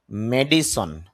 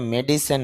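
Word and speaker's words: medicine: সংক্রান্ত বা ডাক্তারি বিষয়ে মেডিসন যদিও আমরা এটা মেডিসিন বলি তবে শুদ্ধ উচ্চারণ হবে মেডিসিন বা মেডিসিন এরকম বলে থাকি তবে শুদ্ধ উচ্চারণ মেডিসন ঔষুধ বা চিকিৎসাবিজ্ঞান মিডিয়াম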